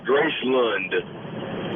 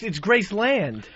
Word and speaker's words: Graceland: Yeah, Fezzy, he puts a U instead of an A-N in everything. When he went down to Graceland, he said Gracelund.